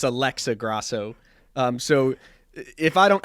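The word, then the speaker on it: Alexa Grasso: is Jean gwali and I believe you said Alexis Alexis Grasso it's Alexa Grosso um so if I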